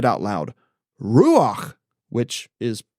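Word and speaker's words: רוּחַ: So standing there crows overhead and me in awe of the power of this wind, I said out loud ruach, which is pronounced ruach.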